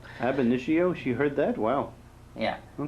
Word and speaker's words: ab initio: Ab initio.